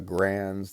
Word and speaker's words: Garand: using, the Thompsons, the Garands, the carbines, the Garands, I'll say it right, Garand, right?